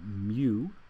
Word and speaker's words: mu: 10us 3 micro has the Greek letter uh mu that's how you pronounce it it's like a cow says me